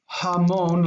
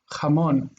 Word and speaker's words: jamón: It's not jamón like in English ha, it's ja, jamón.